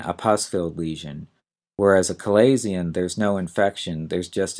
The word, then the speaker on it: chalazion: And our next term is a little odd to pronounce and spell. It's chalazion, chalazion.